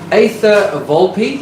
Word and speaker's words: Aether Volpe: Now, Aether Volpe, and I know that is how it is pronounced because she has spelled it out for me very nicely.